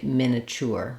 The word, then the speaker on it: miniature: not wrong to say miniature miniature so miniature or miniature um that's the three syllable version then the four Sy version is u in